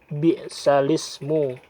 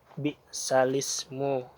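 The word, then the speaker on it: بِئْسَ الِاسْمُ: berat lagi itu tidak dibaca atau ditiadakan cara membacanya cara membaca novel ialah bi'salismu by salisme semoga kelihatan nah Hai Nah jadi cara membaca yaitu bigsale Ismu enggak jadi hamzahnya tadi dibuang porno Hai lanjut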